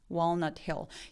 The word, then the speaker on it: Walnut Hill: Walnut Hill. 제가 다 L 발음들이 다크L이라서 그렇네요.